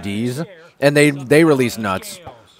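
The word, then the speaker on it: Dietz: like d i e TZ but apparently it's pronounced D's and they they released nuts May that might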